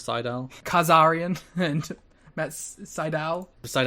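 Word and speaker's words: Sydal: up and mighty nay pronounces it as siddell instead of seidel khazarian and that's seidel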